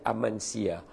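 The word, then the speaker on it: Amasya: Kita pergi dekat Uzunggul dengan Amansia. Mana Amansia? Kejap saya taip. Ejaan dia Amansah tapi sebutan dia Amansia.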